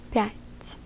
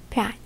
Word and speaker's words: пять: Therefore, it creates a softer version of a T sound, te, in this word. So, it will be not pyat, but pyat.